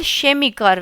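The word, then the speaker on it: Chemie: यहां पे जो फ्यूज़िक है और शेमी है इसे शमी कहते हैं।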